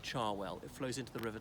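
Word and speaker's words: Cherwell: char well it's spelt sure well but it's pronounced char well it flows into the River Thames so if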